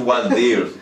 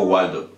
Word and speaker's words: Waldir: Mi nombre es un poquito complicado, mi nombre es Waldir, y la gente no lo pronuncia bien, siempre me han dicho Waldo.